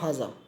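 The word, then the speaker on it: هٰذَا: pronunciation and meaning of हाजा, कि हाजा इज़ प्रोनाउंस्ड हाजा बट इट is written without the first अलिफ, कि ये लिखा तो जाता है हा जा, लेकिन इसे हम पढ़ते हैं, ये लिखने में तो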